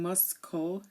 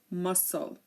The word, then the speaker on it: muscle: an exception and um it's silent here in muscle we don't hear we're not saying mus no muscle okay so this is